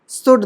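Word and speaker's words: should: generally ऐसा नहीं होता शुड देख लो ओ यू के बाद है इसलिए कुड वुड ठीक है अब समझ में हां साला हम इसे सर क्या बताए इसे हम सुड पढ़ते थे कुड पढ़ते थे वल्ड पढ़ते थे ये इसलिए साइलेंट है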